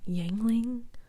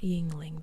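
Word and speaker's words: Yuengling: name of this early pronunciation of the name yangling not Yingling but yangling maybe I'm so sorry if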